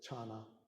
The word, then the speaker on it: Chan: Chinese pronounce it chana, and the Koreans follow that pronunciation with chan, son, back into Japan for a moment.